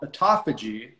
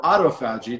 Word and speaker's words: autophagy: body to start going into an area called autophagy or autophagy, depending on how you want to pronounce it.